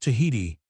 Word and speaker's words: Tahiti: One of the most interesting of the larger islands of the Pacific is Artate, now spelt and pronounced Tahiti, and which Captain Cook arrived on the 4th of APA.